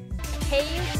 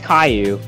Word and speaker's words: Caillou: Caillute? I don't know. Caillute? I don't know how to pronounce this. It's Caillou.